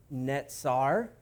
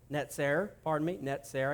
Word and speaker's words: Netzer: Nazareth is from the Hebrew word Netzer. Netzer. I got to get this pronunciation correct because they are so close.